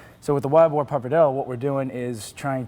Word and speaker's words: pappardelle: Like the one that you're making for us today, and I'm going to let you pronounce it. It's what? Wild Boar Pappardelle. Pappardelle.